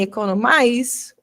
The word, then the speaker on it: economize: E, por exemplo, você vê que em economic, o I não tem som de I, mas em economize, o I tem som de I.